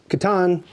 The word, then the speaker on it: Catan: This one is Cities Knights of Catan, correctly pronounced Catan, but I was a C-section baby.